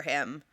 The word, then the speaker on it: Aech: the character's name, and it's spelled out AECH. And it's like a line and a half before they go, oh, it's pronounced like the letter H.